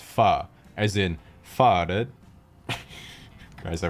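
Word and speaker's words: phở: after some type of pun involving the word foe faux sure forever faux true fo you Etc but in reality the word is actually pronounced PHA as in faded guys I waited four years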